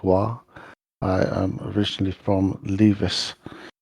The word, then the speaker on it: Roy: It is spelt R-O-Y, but it is pronounced Wa.